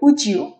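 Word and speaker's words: would you: পরেরটা উচ্চারণ হবে উড ইউ, এটা উচ্চারণ হবে উজিউ, উজিউ, উজিউ।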